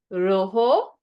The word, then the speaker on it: rojo: Rojo, an H sound again by the J.